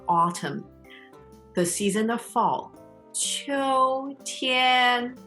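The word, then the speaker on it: 秋天: 秋天, both are first tone. 秋天.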